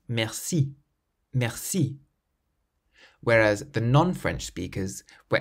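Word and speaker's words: merci: pronounced the word Meri the French native speakers clearly emphasized the last syllable Meri Mercy whereas the non-french speakers were emphasizing the first syllable a little more mercy and it just made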